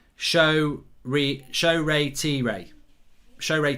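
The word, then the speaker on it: Shoretire: i i've even said shaw tire it's show ray t ray that's how you know that's how you pronounce it apparently show ray t ray so it's four syllables uh mark did you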